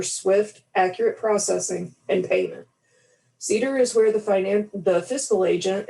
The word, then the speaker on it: CDER: It is written as CDER, and it's pronounced as cedar, like the tree that everybody has allergies with at least once in a while here in Central Texas.